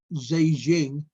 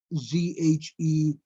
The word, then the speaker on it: Zhejiang: A province east of the epicenter of the city of Wuhan, I think it's pronounced Zhejiang, Zhejiang, Zhejiang, claimed on February 24th that it had restored 98.6% of its pre-coronavirus work capacity.